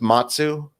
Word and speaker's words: Matsu: in my 20s so my middle name is matsu matsu so it rhymes with my last name but it was my